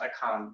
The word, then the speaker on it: Achan: So really quick, if you know of the story of Achan in the book of Joshua, in Hebrew it's pronounced Achan, but anyway, so the people of Israel go through one of the Philistine towns, right?